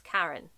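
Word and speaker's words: Karrin: Murphy's name is Karin, okay? But it's spelled K-A-R-R-I-N. Why would you do that? Why don't you just spell it K-A-R-E-N?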